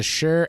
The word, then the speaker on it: Shure: a test of the Shure sm57 cardioid microphone and I'm 100 sure that's how you pronounce it all right this is